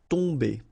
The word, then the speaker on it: tomber: it does mean that this combination of O-M will give you the sound on. Okay, you don't pronounce the M at all, so it's really a nasal, so it goes in your nose. Tomber.